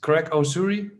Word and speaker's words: Greg Osuri: interview with the CEO of Akash that is Craig URI am I saying it right right Wonder thank